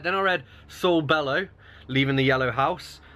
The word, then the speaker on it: Saul: yellow house I mean is it pronounced Saul I always pronounce his soul and then better call Saul came out and I was like I'm pretty sure it's meant to be sold so it rhymes because bear call soul makes no sense and this